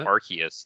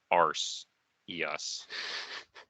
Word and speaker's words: Arceus: am told is that Arceus is the the correct pronunciation because and and I'm not kidding about this uh it was changed because it sounded too much like arse EOS and that was becoming a joke in Europe I don't know how true